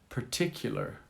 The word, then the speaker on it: particular: Particular. Particular. Particular. Accent on the second syllable.